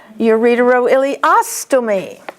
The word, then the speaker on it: ureteroileostomy: Stomy, the accent is on os. Ureteroileostomy.